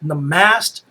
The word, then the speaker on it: Namaste: how you pronounce it Nast I've heard a lot of people say nasty but I think it's Nast Nast white yes it's a